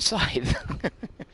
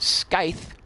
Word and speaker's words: scythe: as a kid, and probably pronounced it Scythe, along with chasm, for many years, before I was ridiculed for doing it wrong by someone and learned forever that it's scythe and chasm.